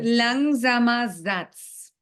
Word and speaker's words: Langsamer Satz: ¿Cómo se pronuncia eso? Langsamer Satz.